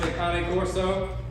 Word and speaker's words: Cane Corso: sketchy um I'm sorry Cane Corso some people pronounce ikane Corso okay I don't think it really matters it's all the same so basic obedience is